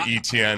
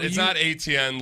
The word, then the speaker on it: Etienne: You see, I spell it ETN phonetically because you're supposed to pronounce it ETN. It's not ATN like the way you would expect.